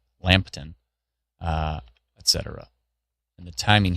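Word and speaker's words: Lambton: Not lamp but lamb. Lampton.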